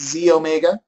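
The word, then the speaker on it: xEO Mega: middle one is the it says XE Omega okay but we pronounce it Z Omega and this is your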